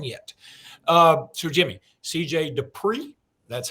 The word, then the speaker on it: Dippre: the best one yet uh sir Jimmy CJ Dupree that's how you pronounce that d-i-p-p-r-e has committed to the University